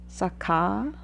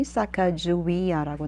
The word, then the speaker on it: Sacagawea: One of the scouts brought his wife, Sacagawea.